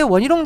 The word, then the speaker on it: 원희룡: 양평 고속도로 의혹만 같은 경우에도 당시에 원희룡 장관이 그렇게 하면서 오히려 더 문제가 생겼다고 보는 거죠. 원희룡이라고 정확하게 발음해 주시면 원희룡.